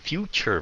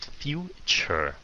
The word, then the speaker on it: future: Rồi chữ T trong chữ future phát âm sao? À cái chữ future á phát âm chute. Ok. Future. Go là lịch sử phải không?